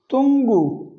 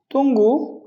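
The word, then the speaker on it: tunggu: Another you, یو از pronounced like the double O in fool۔ تنگو، تنگو، تنگو، to wait, انتظار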